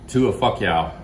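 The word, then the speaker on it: ถั่วฝักยาว: To a fuck yow.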